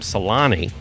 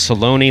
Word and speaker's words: Salone: Sun sunny when I mispronounced Salone I think I called him Salani and he said no it's Salone like baloney I was so you